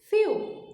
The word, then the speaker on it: few: E também com relação à pronúncia do few, tome um pouco de cuidado, porque few é uma palavrinha que parece muito com outra palavra no inglês, que é sentimentos, certo? Que é feel.